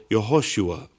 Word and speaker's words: Yehoshua: It's also worth noting that in Hebrew, Jesus' name had either 3 or 4 syllables according to how it may have been pronounced, either Yeshua or Yehoshua.